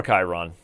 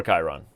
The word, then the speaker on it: Chiron: okay, and as white, he is also poor Chiron. Poor Chiron. You know, he didn't get his love in Greek mythology, people constantly mispronouncing his name to Chiron, and now Chiron